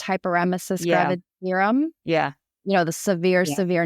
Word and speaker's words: hyperemesis gravidarum: meaning like they had, I believe it's pronounced hyperemesis gravidarum.